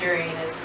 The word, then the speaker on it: Uranus: Not your anus, but Uranus. We're gonna say Uranus. It might be pronounced Uranus, but...